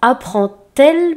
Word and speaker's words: apprend-elle: C'est juste le « d » qui se prononce « t » à ce moment-là.